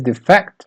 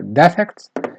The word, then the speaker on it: defect: is defect or defect so it has two pronunciations if you use it as a noun it means an imperfection or flaw or plenish of some kind and if you use it as a verb it means to Desert a cause or